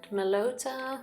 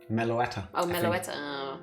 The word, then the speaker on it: Meloetta: Korean half seen but okay can understand meloda where do you pronounce that one Meloetta okay fair Sylveon I haven't seen it persimian